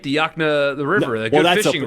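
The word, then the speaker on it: Yokena: K E N A Y O K Yakna? That's right. You said it correct. I thought you were going to say Yakna. Yes, Yakna. Oh, cuz there's the river, right? The Yakna the river, the good fishing river.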